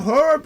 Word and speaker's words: herb: What do you think the H is doing there? It's not doing acrobatics, is it? pronounce the bloody h.